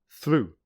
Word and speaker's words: through: Through, which rhymes with true.